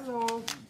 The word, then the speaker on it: Lowell: Hi, Lowell. 85. How do you spell that? How do you spell that? What's the Lowell? L-O-W-E-L-L. Okay, just like it sounds. Like Lowell, Massachusetts. Thank you.